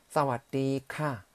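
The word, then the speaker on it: สวัสดีค่ะ: 사와디 크랍 또는 여성분들은 사와디 카 라고 발음하시면 됩니다.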